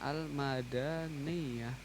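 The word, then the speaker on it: المدنية: Lalu ee kemudian almadaniyah ini cara bacanya almadaniah ini.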